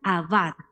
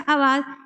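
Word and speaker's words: עבד: morado esa letrica en el hebreo original se pronuncia abad se pronuncia abad y mire lo que significa esta palabra significa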